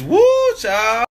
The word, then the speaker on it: whew chile: Like W-H-E-W Chile. Chile? It's woo, child.